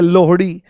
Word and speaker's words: लोहड़ी: आपने यहां पर बोल दिया लोहड़ी ठीक है लोहड़ी ये लोहड़ी है ठीक है इसका उच्चारण गलत करते हैं लोग एक ऐसी रील